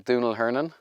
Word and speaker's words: Domhnaill Hernon: Hi, I'm Domhnaill Hernon. It's an Irish name, phonetically impossible to pronounce based on the spelling.